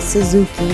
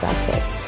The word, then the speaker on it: Sasuke: he wanted Naruto, and I cannot pronounce his name. I know I was wrong. I said Suzuki, but that is not it. It's Sasuke or something like that. I think it's Sasuke. Naruto and Sasuke.